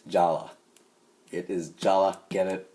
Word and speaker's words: Jala: his name is pronounced Jala even though it looks like it's joller it's Jala it is Jala get